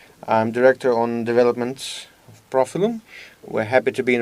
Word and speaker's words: Profilum: Profilum?